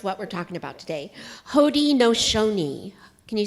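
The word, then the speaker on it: Haudenosaunee: a great Confederacy and this is how you pronounce what we're talking about today hod nooni can you say that h no and it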